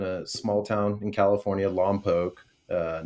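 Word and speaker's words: Lompoc: grew up in a small town in California Loke uh not Lomo I know Vin Diesel says it in the first fast in the Furious but he pronounced it wrong it's Loke it's about two hours north of uh of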